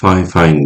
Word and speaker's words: Fifine: yapacağım görmüş olduğunuz gibi fifine diye yazılıyor F fine diye okunuyor bunu şimdi Bilgisayar kamerasından